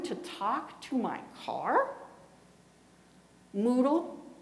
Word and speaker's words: Moodle: Moodle, it rhymes with poodle.